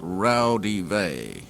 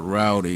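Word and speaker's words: Raudive: book called Breakthrough by Constantine Rowdy that's actually pronounced rowdyvee it's Latin but I think I'll just stick with relative or Rowdy for short published in 1971 by the temple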